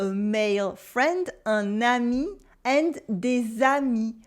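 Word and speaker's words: des amis: friend a nanny and desami desami friends with a silent S at the end and the liaison in the middle we also have the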